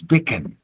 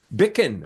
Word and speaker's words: Bichan: go anyway it's uh it's a Scottish name and uh it depends where you are how you pronounce it but uh the general kind of anglicized version uh my family used is bickin bickin okay Bick yes yeah